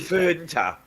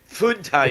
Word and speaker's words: Fanta: And I believe you say ah in German. How do you pronounce A in German? Well, I should ask JT. Funta. Funta, you should be saying. When you order your orange drink, you ask Funta for the Funta. It's not ooh.